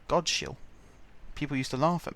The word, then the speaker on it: Godshill: you pronounce them, so there's one that's spelt G-O-D-S-H-I-L-L. And I used to call it Godshill, but no, it's called Godshill. But you don't know that, because SH is sh, and there's not a